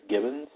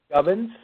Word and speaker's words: Gubbins: I guess that's his last name, Dennis Gibbons. It's actually Gubbins. What is it? Pronounced Gubbins.